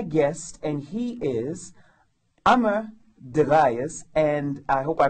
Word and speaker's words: Degayes: to introduce my guest and he is Amar deas and I hope I pronounced your last name right that's right and